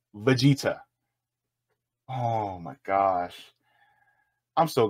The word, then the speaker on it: Vegeta: versus one Goku or vegetar from drag hold up V Vega Vegeta Stephen St Stephen bro at least learn how to pronounce the name it's Veta oh my gosh I'm